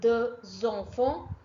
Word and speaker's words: deux enfants: Again, X is linked with the E sound. So deux enfants. J'ai deux enfants. X will not S will not to be pronounced. S is a final consonant letter, and final consonant letter are hardly to be pronounced in French language.